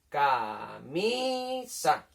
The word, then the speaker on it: camisa: ¿Cuál de estas 3 sílabas sería la sílaba tónica, la que suena más fuerte? Pensadlo. Camisa. La del medio, ¿verdad?